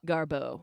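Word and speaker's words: Garbeaux: Spelled with Beaux. Oh. Garbo. Bo. But also like garbage.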